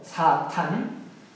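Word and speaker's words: שטן: 사탄 이렇게도 쓰고, 그 다음에 사맥을 써가지고 이렇게도 씁니다. 이 단어에서 점이 여기에 찍히면은 SH 발음이 나죠. 이렇게 이쪽 왼쪽에 찍히면은 S 발음이 나요.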